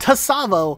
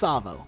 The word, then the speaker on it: Tsavo: one's great it's pronounced Tsavo highway but I've heard many many people call it to Tsavo highway with an overemphasis on the T sound it is not the case it's just Tsavo in Halo 5 despite